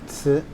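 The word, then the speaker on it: 瓷: On the top, you have a character that is pronounced tsi.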